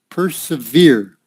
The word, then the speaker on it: persevere: severe persevere yeah pers persevere so like this per per se veer and it's the same